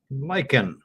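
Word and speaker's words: lichen: L I c hen and that's pronounced lyken.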